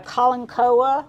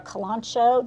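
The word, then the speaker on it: kalanchoe: something that blue green you've got a Colin KOA or a kalancho depending on how you pronounce it love this love the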